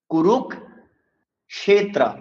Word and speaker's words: কুরুক্ষেত্র: যদি হসন্ত চিহ্নটি যুক্ত হয় তবে সেই বর্ণের উচ্চারণ অর্ধেক করব। তাহলে আমরা বলবো কুরুক ক্ষেত্র।